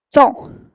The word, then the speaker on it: temps: Entonces, ahí ven, temps, no se pronuncia la P, tampoco la S. Es importante que lo vean así. Entonces, temps, du temps qui file.